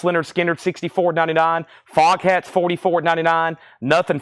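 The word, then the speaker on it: Lynyrd Skynyrd: stuff big brother and the holding company $64.99 pronounced Leonard skard 64.99 fog hats $44.99 nothing fancy 64.99 wh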